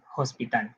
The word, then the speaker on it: hospital: in the spelling system letter h is not always silent in chavacano it is always silent in spanish for example the word